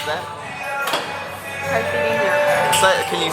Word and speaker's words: Caipirinha: Excuse me, miss, how do you pronounce that? Caipirinha. Can you say it closer? Caipirinha.